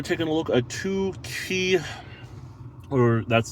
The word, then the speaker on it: Qi: a look at two key or that's that's that's how it's pronounced Qi or key um wireless charging systems